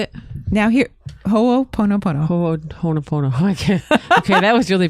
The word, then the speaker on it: Ho'oponopono: Now here, Ho'oponopono. Ho'oponopono. Okay, that was really bad. Ho'oponopono. Okay, so just listen to Lita. She'll say it again. Ho'oponopono.